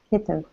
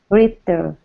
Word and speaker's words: heater: No, I'm hearing Ritter with an R. Try it like this. Say it like this. Say he. Like he and she. He. He. Good. That's better. It's the wrong H, but it still sounds better because you're going he in your throat.